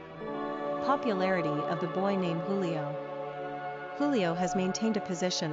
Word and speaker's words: Julio: Pronunciation, Julio.